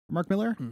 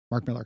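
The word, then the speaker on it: Millar: relationship with Mark Mar Mark Miller is actually I think how you're supposed to pronounce it but when I was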